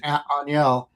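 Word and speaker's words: Ángel: And Aniel, it's going to be easy because Cleveland has 2 guys named spelled out Angel. Both of them are pronounced Aniel.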